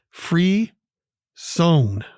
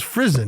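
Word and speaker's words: frisson: i thought it was frison right f-r-i-s-s-o-n but when you look at the pronunciation guide it's f r e with the little sign over the e to make it a long e sound and then s-o-n uh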